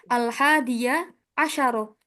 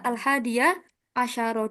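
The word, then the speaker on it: الحادي عشر: Al-hadiyah asyaro. Dibaca fathah semua ya. Al-hadiyah asyaro.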